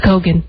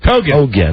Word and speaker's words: Kogan: Though spelled like Keegan, indeed, it's Kogan. Kogan.